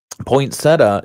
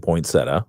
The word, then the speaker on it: poinsettia: See, poinsettia is where I was raised saying poinsettia.